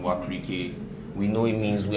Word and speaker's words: Wakirike: It's actually the original name for Okrika. I know there are people here who know Okrika, but when the white man came, he was too lazy to pronounce Wakirike, so he just Okrika, and then the name stuck. But it's actually Wakirike.